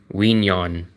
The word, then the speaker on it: Quy Nhon: And the city is spelled Quy, and then the second word is Nhon. Quy Nhon.